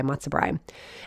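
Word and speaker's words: matzo brei: well to make the matzobrine that's b-r-e-i sometimes it's spelled b-r-i-e but usually you'd see it b-r-e-i matsubri and then desserts anything with matzah is a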